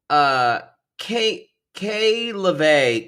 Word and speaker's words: Kayee LaVey: So y'all, Kayee LaVey, God, those two E's fucked me up. But it's spelled Lovey, K Lovey, but Kayee LaVey. But I just need to reiterate, it is spelled with Kayee. Kayee LaVey. LOV, I believe it's a capital L. LOVEE. So it's Kayee LaVey.